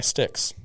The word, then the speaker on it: Styx: pronounce it um by yeah by sticks is how you pronounce it yeah okay renegade by